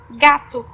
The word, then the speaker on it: gato: For example, it sounds G when it precedes A, as in gato, gato, which means cat.